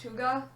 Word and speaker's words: hygge: But it's spelled Hygge, so it looks like Haig, but it's pronounced Huga.